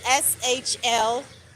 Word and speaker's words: Shlomo: known to everyone, that his name is actually SHLOMO, if I'm pronouncing that correctly, but it's SHLOMO.